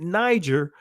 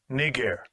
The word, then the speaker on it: Niger: see that word right you were taught to pronounce it Niger but here's the proper pronunciation of that word Strong's G 3526 Nar Nar strongs G 3526 Nar